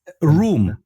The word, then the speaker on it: RAUM: r r r so we pronounce it German because we want to